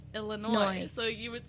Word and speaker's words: Illinois: words tell me now how do you say the State Illinois St Louis illo Illinois not s Illinois so you would say